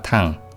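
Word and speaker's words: 糖: 참고로 엿당자에는 당과 탕 두 가지 발음이 있습니다.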